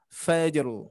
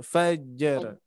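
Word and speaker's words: فجر: Fajru. Nah, tidak fajar, tapi fajru langsung ya. Sekilas dan juga huruf ro-nya terbaca. Baik, untuk catatannya seperti itu.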